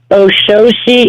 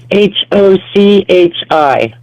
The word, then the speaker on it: Ochosi: Oshoshi is? It's Oshochi.